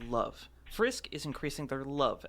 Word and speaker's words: LOVE: hands on, increasing their level as they go. Um, actually, it's not pronounced level, it's pronounced love.